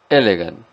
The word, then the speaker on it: elegant: Aquí en la pronunciación tenemos que hacer fuerza sobre la primera sílaba, elegant. Sobre la letra E cae, recae esta acentuación o esta fuerza al pronunciar.